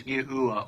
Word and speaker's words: Yahuwah: Hebrew, all of which point to the phonetic sounding of God's sacred name as Yahuwah or Yahu.